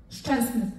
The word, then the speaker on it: Szczęsny: Oder Wojciech Szczęsny? Ja, da, hör mal, da muss ich dich mal eben unterbrechen. Szczęsny wird ja ausgesprochen. Und die Deutschen, habe ich richtig gesagt jetzt? Szczęsny? Szczęsny.